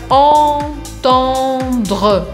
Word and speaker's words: entendre: Muito parecida com essa palavra, teremos a segunda palavra, entendre, que tem duas vezes esse mesmo som. Entendre.